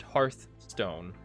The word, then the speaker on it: Hearthstone: you know read it it's not hearth stone but the actual developers of earth stone call it hearth stone because they were asked about it and they said that's how you say it yo did the